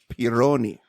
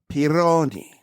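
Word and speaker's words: Pieroni: It was 1658 is when those were all removed by by an Italian engineer named Pironi. Say it right. Peroni.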